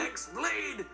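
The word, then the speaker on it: χ-blade: Yeah, means the X-Blade. It's just pronounced like Keyblade, even though it's just one Keyblade.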